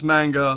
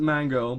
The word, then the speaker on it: manga: I know it's manga. Look, I pronounce it mango because it's funny. It's a fruit.